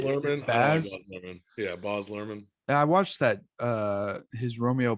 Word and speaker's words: Baz Luhrmann: Yeah, Baz Luhrmann.